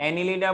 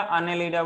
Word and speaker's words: Annelida: हाँ, एनिलीडा बोलो या अनेलीडा बोलो या एने बोलो, कोई फर्क नहीं पड़ता।